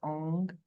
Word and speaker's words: Ong: I want to emphasize the NG sound, so Ong.